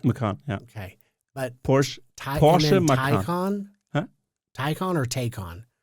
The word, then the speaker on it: Macan: How do you pronounce this? Macan. Okay. Because I thought Not it was Mackin.